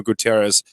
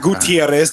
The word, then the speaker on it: Guterres: No, it's not Gutierrez. There's not an I in there. It's Guterres.